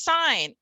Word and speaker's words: sign: So the root here is sign, and we have the GN saying, representing the N sound, and the I is saying I in front of two consonants, just like the wild old words.